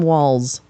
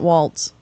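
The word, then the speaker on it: Walz: the streets for Tim Walls and I'll say his name right it's not Waltz it's walls there's a nice picture of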